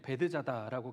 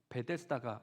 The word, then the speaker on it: 베데스다: 우리가 읽은 표준 세번역에는 베드자다라고 기록되어 있는데요, 헬라어 원어 성경을 보면 베데스다라고 기록되어 있습니다. 그리고 신앙생활을 오래 하신 분들은 베드자다라는 말보다는 베데스다가 익숙할 거라고 생각하기 때문에 오늘은 편의상 베데스다라고 제가 좀 발음을 하겠습니다.